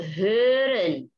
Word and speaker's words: hören: Ada O umlaut dibacanya agak sedikit juga beda dengan O biasa yang bulat. Nah, ini O umlaut. Bisanya kata hören. Hören itu sedikit ke OE ya.